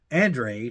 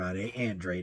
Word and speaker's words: Andrade: and he was surprised that Andre not andr Andre that's how he pronounces his name um quit in the